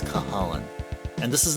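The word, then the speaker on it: Cú Chulainn: But his name looks like you pronounce it as Cuchu Lane. It's not Cuchu Lane, it's Cahalan.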